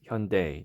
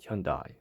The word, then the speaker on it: Hyundai: included and believe it or not actually it's pronounced hyundai not hyundai it's smaller than the uh mid-size sonata so